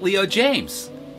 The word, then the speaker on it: Leo Jaymz: I've got an idea let's call it Leo James but we'll spell it j-a-y-m-z and well because he